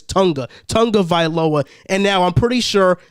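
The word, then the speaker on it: Tua Tagovailoa: dan marino and you're definitely not winning with tua tonga vi loba since i'm always getting his name wrong it's tonga tonga viloa and now i'm pretty sure the entire dolphins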